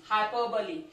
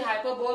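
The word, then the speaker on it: hyperbole: The next is हाइपरबली, इसको कुछ बच्चे हाइपरबोल बोलते हैं, बट इसकी सही प्रोनाउंसिएशन बेटा हाइपरबली होता है।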